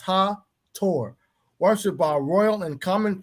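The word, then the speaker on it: Hathor: history of ancient Egypt she is Hawthorne pronounced her Tor worshiped by Royal and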